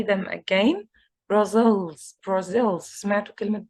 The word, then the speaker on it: Brazil: say them again Brussels Brazil's medical Brazil Brazil Brazil the stress is on the second syllable as I mentioned before